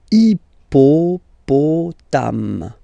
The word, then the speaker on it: hippopotame: So for the next one, remember, H in French doesn't exist, so basically you don't pronounce it, you will only pronounce this I. Hippopotame, hippopotame, and then un hippopotame, hippopotame, okay?